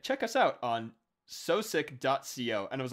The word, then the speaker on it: Sosik: It is not Soezic, it is Sosik.